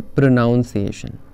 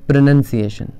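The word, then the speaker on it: pronunciation: ion next इ प्रोनाउंस इट इज नॉट प्रोनाउंस एशन इट इज प्रोनंसिएशन लोग कहते हैं प्रोनाउंस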